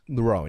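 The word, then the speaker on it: Roan: I'm going to pronounce this incorrectly. Rowan, is it, Cass? Rowan, yeah.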